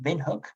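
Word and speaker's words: Windhoek: hotel is is uh it's pronounced vinhook even though there's a w there it's been hook and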